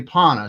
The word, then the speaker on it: Panna: i don't know uh pano knows now am i saying it right because i don't see people say panda and i i've heard you say pana so i was going to